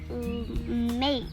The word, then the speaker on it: make: Make. Okay. It's a silent. E, because the silent E has power to make any of the vowels long, and then the E has no power. It becomes silent.